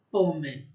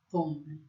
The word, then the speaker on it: pomme: O O aberto, pomme, pomme, pomme é maçã.